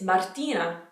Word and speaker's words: Martina: it a little bit another one is martina martina martina not martina like martini like the drink okay martina the next one